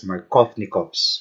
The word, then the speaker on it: Markovnikov: follows markovnikov's rule so markovnikov's so it's actually pronounced as markovnikov's rule okay so what's this rule all about